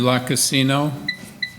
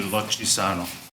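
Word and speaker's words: Lucisano: questions thank you sir thank you Mr La Casino sorry I was going to ask you if I pronounced that right it's actually luchisano okay um okay so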